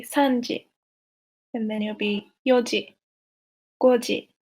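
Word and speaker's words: 四時: So just a reminder that you don't say yonji, because there's two ways of saying 4, 7, and 9, but you say yoji, not yonji.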